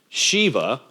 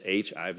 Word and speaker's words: Shiva: SI Iva or sh sh Iva you also hear it pronounced in different ways Shiva um and Vishnu v